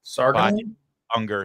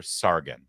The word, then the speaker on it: Sargon: So, now Bacha uh uh I always get her name wrong. Sarger Sargon.